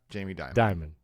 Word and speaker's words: Dimon: CEO of the most important bank in America, Jamie Dimon. Diamond. Like diamond without the D. Like The Rock.